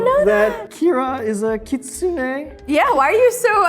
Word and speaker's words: kitsune: I did not know that Kira is a kitsune. Yeah, why are you so unsure? She is definitely a I just want to kitsune. make sure I just want to make sure I pronounced it correctly.